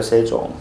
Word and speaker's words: 세종: 우리 사실 뭐라고 읽어요? 세종이라고 읽어요. 세종. 맞지? 그런데 여기는 지금 쉐 밑에 뭐가 들어가 있다고? 이응이 지금 추가되어 있단 말이야.